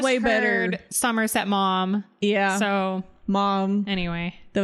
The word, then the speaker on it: Maugham: Is it really two syllables? Maugham? I think it's mom.